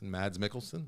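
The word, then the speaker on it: Mads Mikkelsen: nothing to do with mad mikkelson which that's how you pronounce mad is that you don't pronounce the S mad's Mickelson but I don't like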